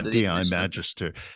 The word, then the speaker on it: DAI Magister: that all wrapped under is it called Dai dii Magister is that how I pronounce it yeah that's that's right uh di Magister it's my third firm